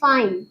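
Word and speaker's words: fine: उसके बाद कंसोनेंट के बाद अगर इ आए तब उसका प्रोनंसिएशन क्या होगा? आई होता है। आई फाइन। देखिए फाइन टाइम काइट लाइन आई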